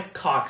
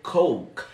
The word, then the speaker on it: Coke: Mas, gente, a pronúncia de coca não é cock, seria coke. Coke.